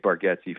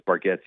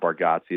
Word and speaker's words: Bargatze: I'm a I'm a huge Nate Bargatze fan and real fans know it's Bargatze not Bargazzi.